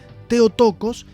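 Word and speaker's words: Θεοτόκος: esta palabra que vemos acá y que se pronuncia theotókos y significa madre de dios un título muy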